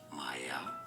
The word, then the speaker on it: Mielle: no it's actually may mayel as in my L mayel Organics myel Organics